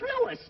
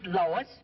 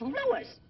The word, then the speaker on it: Louis: Me name is Louis, not Lois. Gee whiz, everybody interpolates me name wrong. It's Louis. L-O-U-I-S.